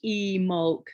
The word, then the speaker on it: Imbolc: a time it's pronounced e molk there's a silent b in the word um but it's it's